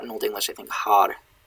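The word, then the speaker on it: hār: Har is H-A-R. It's a long A that means gray.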